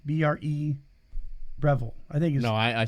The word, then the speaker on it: Breville: Revel Breville no it's it's a b b-r-e Breville I think no I I said Revel oh you said Rebel okay that's why I said model cars I thought it was Revenge oh no it's Breville or Breville um espresso machine and uh every year I